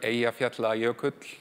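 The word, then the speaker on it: Eyjafjallajökull: thing going on um at one point where aat yut that's how you say it um stopped air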